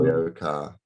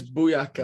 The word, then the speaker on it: BOYOCA: So BOYOCA. Although it gets mispronounced quite a lot, but it gets Booyaka a lot, doesn't it?